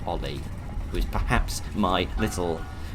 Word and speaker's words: Oli: I think it's pronounced Ollie, who is perhaps my little severed chap here.